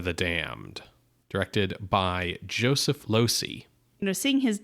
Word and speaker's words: Losey: Damned, directed by Joseph Losey. You know, seeing his name, I wasn't sure if it was Losey. So it's like you lose.